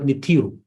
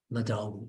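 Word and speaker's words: Nadjaru: Some people see the word Nitiru. I know if you heard it, Nitiru, or Natharu. Natharu, N-A-D-J-A-R-U. Nadaru, yeah.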